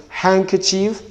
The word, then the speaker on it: handkerchief: rather it is handsome handkerchief and hanky so in these words and the words that looks like them the letter d the letter d here are not to be realized okay the the next